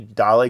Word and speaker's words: dalle: Honestly, I'm not even sure how to pronounce this. So I went to Wikipedia, and of course, you can just see dalle glass is stained glass, as normal folks would call it.